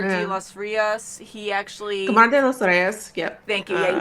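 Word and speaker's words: Kamar de los Reyes: Camar de los Rios, yep. Thank you. Yeah, you pronounce it better.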